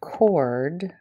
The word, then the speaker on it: chord: i'm saying the word chord the h is silence i'm really kind of saying c-o-r-d so this h is silent okay so if i